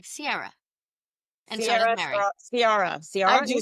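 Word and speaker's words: Ciara: By the way, are you correcting our pronunciation of her name? Yes, I'll tell you why. Because it consistently comes up as Sierra, like Sierra Leon. S I E R R A. Her name is Sara.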